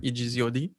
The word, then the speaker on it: Egzod: name first um so it stands for exodus in french it's just like written in the phonetic form so like you know